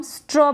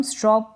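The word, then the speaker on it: straw: हैं उसको भी हम स्ट्रॉ बोलते हैं अंग्रेजी में स्ट्रा ना पढ़े इसको स्ट्रॉ यह है हॉक इसको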